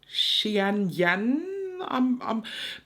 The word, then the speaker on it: Qianyan: It was written Qianyan. And I know that the pronunciation of this was Xianyan.